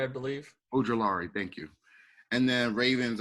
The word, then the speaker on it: Ojulari: And then Bills are taking edge rusher Isaiah, I'm trying to pronounce that name, Ojulari, I believe. Ojulari, thank you.